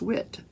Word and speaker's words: Witt: Oh, it's not Wright, it's Witt.